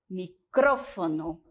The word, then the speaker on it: micrófono: Microfone e micrófono.